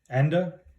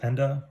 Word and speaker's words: Enda: We have Enda, so it's pronounced Enda, or you could say End, doesn't matter.